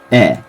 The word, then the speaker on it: へ: not that important but when it means toward it is pronounced e just like ha is